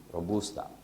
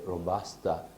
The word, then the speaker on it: Robusta: energy as compared to Robusta. I should say Robusta in English. I prefer the Italian pronunciation, so I say Robusta.